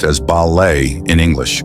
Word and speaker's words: ballet: ballet is pronounced as balet in English with a silent T following the French pronunciation however some subtle changes